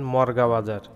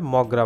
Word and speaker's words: মগড়া: নাম হচ্ছে মগরা বাজার অনেকেই আবার ভুল করে বলে থাকেন মর্গাবাজার কিন্তু প্রকৃত উচ্চারণ হবে মগড়া বাজার তো এই যে দেখতে পাচ্ছেন